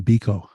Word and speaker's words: Biko: of South African activist Steve, how do you pronounce it again? Even Biko.